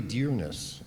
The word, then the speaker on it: Dyrness: Dyrness is Norwegian, but it's really Dyrness, and just as he pronounces it.